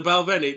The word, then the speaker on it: Balvenie: And how do you pronounce it? The Balvenie. The Balvenie.